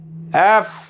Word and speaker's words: F: আমরা যেটা সাধারণত উচ্চারণ করে থাকি, সাধারণত আমরা কি উচ্চারণ করে থাকি? এব উচ্চারণ করে থাকি, কিন্তু এরপর থেকে আর এব উচ্চারণ করব না। এরপর থেকে আমরা যেটা উচ্চারণ করব সেটা হচ্ছে, এটা উচ্চারণ করতে হলে প্রথমে উপরে দাঁতের সাথে নিচের ঠোঁটের সাথে মিলাই এই উচ্চারণটা করতে হবে। তাহলে উচ্চারণটা হবে হলো এফ, এফ, এফ, এফ।